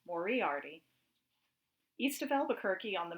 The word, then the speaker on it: Moriarty: the little town of moriarty accent on the eye excuse me it's mauriarty east of albuquerque on